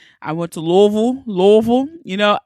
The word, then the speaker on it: Louisville: I went to Louisville. You know, I think it's so amazing that's how you say it because I would say Louisville. But I love how they say Louisville.